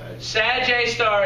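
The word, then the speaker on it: Sgr A*: the symbol for it it's pronounced a J star sad J star is because it's in the direction of the Sagittarius constellation there's a point that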